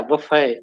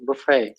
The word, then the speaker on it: buffet: yes we have that buffet do you all know that one okay yeah buffet buffet you don't say the t everyone it's a french word buffet buffet there and